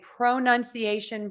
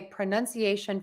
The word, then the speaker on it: pronunciation: could say I'm a pronunciation professional and I would use the pronunciation professional, pronunciation professional. So I think what gets confusing for people is you will hear both of these options, pro and pra.